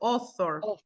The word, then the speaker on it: author: Look, all the words that start with AU, yes, Oh, the yes. Oh, pronunciation is with O.